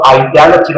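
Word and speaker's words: identity: 이거 아이데너티가 읽어요 티 발음 안 해요 아이데너티 이거 어바를 봐요 아이데너티 또는 아이데너파이 본 아이덴티티가 아니고 본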